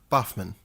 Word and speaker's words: Boffman: He sent me an email telling me that I was close, but the way that his name is spelled is pronounced with a double F sound, so it's River Boffman.